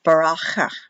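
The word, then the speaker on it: ברכה: This should be a K-H, but they pronounce it with a K, but it's pronounced Baracha.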